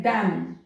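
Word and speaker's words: damn: तो N silent है, डैम एम एन N silent डैम, सॉलेम एम और एन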